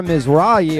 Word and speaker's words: Mizrahi: it uh okay you're right it's uh Zara MRA I hope I'm saying your last name right